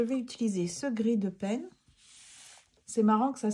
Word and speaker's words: Payne: ça donc je vais utiliser ce gris de peine c'est marrant que ça s'écrit de peine au début on pourrait penser